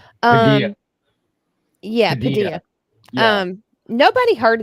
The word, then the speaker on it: Padilla: I was sitting there thinking about Senator Alex Padilia. I guess that's how you say his name. Um, Padilla.